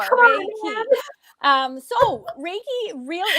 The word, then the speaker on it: Reiki: Yeah, Ray, like the I've been practicing all day. Key, like opening a door. Reiki.